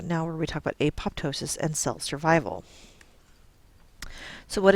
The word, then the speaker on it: apoptosis: where we talk about apoptosis and cell survival so what is apoptosis and you may have heard it referred to as apotosis it's it's just a regional difference in how you pronounce it um apoptosis is known